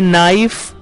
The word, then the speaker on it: knife: इसी तरह next word है नाइफ, जो कि स्पेलिंग है KNIFE, लेकिन उसमें भी के साइलेंट होता है, नाइफ, नाइफ यानी छुरी या चाकू।